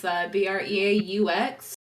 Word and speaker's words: breaux: It is spelled Cajun as hell. It's BREAUX. And if you want, that's how you say that.